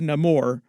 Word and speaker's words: Namor: He pronounces it a little bit differently himself, like he says Namor, just because they're changing a little bit about the backstory of him and his people.